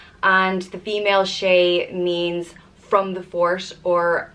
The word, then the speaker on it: Shea: the next name is Shea just pronounced Shea and the meaning of